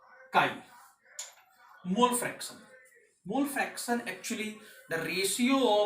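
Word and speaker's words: χ: Mole fraction, it is represented at and it is pronounced as chi।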